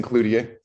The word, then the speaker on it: Cloutier: Barnes and Barnes versus Cloutier. Cloutier. I always say it wrong every time. Everyone does. Your name? Cloutier. Okay. And actually, that's really how it should be pronounced.